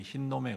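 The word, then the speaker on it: 힌놈: 하얀 놈이 아니고 그냥 흰놈이라는 발음입니다. 근데 이 의미가 뭐냐 하면 죽음이라는 뜻이에요. 여기에는 뭘 했냐면 아이들을 잡아가지고 제물로 드리는 그러한 이 참담한 일을 벌인 곳이 이 흰놈의 골짜기입니다.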